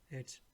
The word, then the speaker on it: jetzt: So here this T is silent. Jetzt, meaning now, immediately. Jetzt.